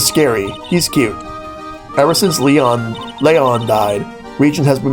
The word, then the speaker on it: Leon: Leyon. He died. Yes, actually he was killed. My dad killed him. It's still pronounced Leon. Okay. Cuz I don't want to get confused with Leon from Resident Evil.